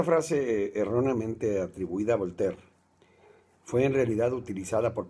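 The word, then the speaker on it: Voltaire: al decirle franois perdón si no lo sé pronunciar es volter a volter se le atribuye una frase que le ha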